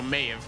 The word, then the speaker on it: Maeve: Rhymes with cave, so Maeve.